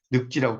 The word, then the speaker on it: 늙지: 리을 여기 지가 붙을 때는 리을이 탈락되면서 여기도 늘 지도 마찬가지죠. 리을 탈락되면서 늑지라고 발음을 하겠죠.